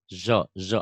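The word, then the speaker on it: ظ: Zo agar apa ya? Zo itu Zo, hurufnya kayak zo. gini. Zo itu ZHO ya. Tapi pengucapannya nggak monyok. Zo, zo tuh. Zo, Zo, zo. zo, Jangan jo, zo, zo.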